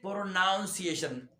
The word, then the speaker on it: pronunciation: know pronounce the word the noun that they say pronunciation you have to pronounce the word pronunciation pronunciation